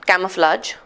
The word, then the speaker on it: camouflage: So let's break down camouflage into syllables. It's always cam, o, flage. 3-syllable word, right?